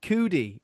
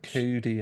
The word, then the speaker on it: Cudi: Um, the first part of his name is Kid, and the second part of his name rhymes with Judy.